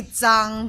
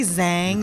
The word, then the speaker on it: Zhang: I mean you well it's supposed to be Tang but you know no one knows how to pronounce in the US so do you actually